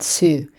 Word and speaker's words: Su: Didn't ask you for your the pronunciation of your name. Oh, no. Totally fine. So, first name is just Sue.